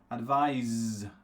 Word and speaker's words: advise: this is correct correct so sound at the end is the Zed sound and of course sound